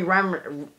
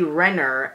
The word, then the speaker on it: Renner: really did like that we also have Jeremy Ramen I'm just mispronouncing everyone's names Jeremy Renner as Hawkeye in this movie and I also